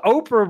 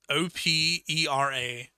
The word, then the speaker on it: Opera: There's no way they're called Oprah, bro. It's, wait, hold up. It's O-P. Sorry. O-P-E-R-A.